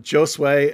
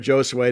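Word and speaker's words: Josué: nice for him um is a joe sway and and by the way that's quinones that's the way everyone pronounces it either jose or josue depending on how good your spanish is um he's the the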